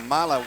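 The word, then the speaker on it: Milah: Also, now, Mila Williams, I believe it's pronounced Mila, M-I-L-A-H. I'm sure it's Mila.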